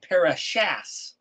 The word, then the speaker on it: parashat: A parashah is spelled pereshin tav, parashat. If you read it in English, it says parashas. That's because there's two different or three different ways to pronounce the letter tav, either as a T, an S, or a TH.